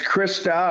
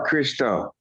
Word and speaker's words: Christo: And is it's Krista or Christo? It's Christo with an O.